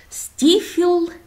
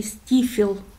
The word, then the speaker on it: Steephill: и хочу вам сегодня показать это называется бухта стифел или бухта степ хен крутой холм вот по-русски если по нашему говорить то получается все таки стифел а пишется степ hello надо спускаться туда вниз